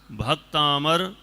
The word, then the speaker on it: भक्तामर: भक्तांबर भक्तांबर बोलने की क्या बोलना है अविरल भक्तमर भक्तमर भक्तमर ठीक है तनिष् भक्तमर यह पहला